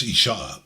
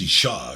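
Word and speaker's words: אשה: word wife or woman but just like with man by the way it's isha the other one was ish now it's isha because we've added this ah at the end the hay the breath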